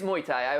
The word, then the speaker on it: Muay Thai: what is that Goomba do you like muai it is okay it's it's Muay Thai I my pronunciation is not the best oh pish I don't